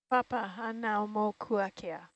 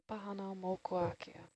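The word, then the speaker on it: Papahānaumokuākea: Papa Hanau Mokuakea. Yeah. Pahana Mokuakea.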